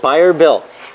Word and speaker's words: Bayer Built: got Bill Huber with buyer built now am I saying that right you are saying it right buyer built and uh you guys